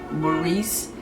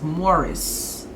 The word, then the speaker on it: Maurice: know a lot of y'all noticed i always pronounce his name maurice because i know people i know people who